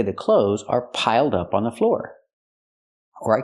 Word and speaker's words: piled up: Piled up. Pronounce it like one word. Not piled up, but piled up. Connect the d with the next word.